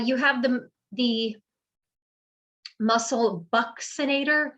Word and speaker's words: buccinator: have the the muscle buccinator it's pronounced with uh like a ks boxinator buccinator actually brings the cheeks